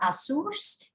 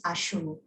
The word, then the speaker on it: Ashu: It is not Asus, it is Ashu. So please remember it's Ashu, not Asus.